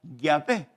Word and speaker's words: Yahvé: Aproximadamente esas 4 letras, como les dije, se pronuncia Yahvé.